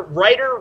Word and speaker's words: Ruiter: follow me on Twitter writer wrong fan but the writer is spelled a little different it's R UI T